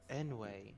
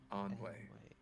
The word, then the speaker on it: Ennui: Enway.